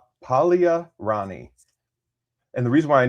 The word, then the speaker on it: Paglia: It's spelled like Paglia. The G though. Yeah, that's what I wanted to say was Pagia.